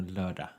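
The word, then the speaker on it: lördag: will be i learned so you don't pronounce the last g it's more loader ah okay we can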